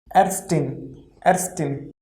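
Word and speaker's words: Ärztin: See, Erstin. See, A mit umlaut is A, R, Z is S, then TIN will be tin. So overall it will be Erstin.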